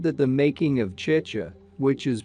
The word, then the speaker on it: chicha: He said that the making of chicha, which is pronounced chi-cha, but which he pronounced chahi-cha, an alcoholic beverage made from fermented corn, was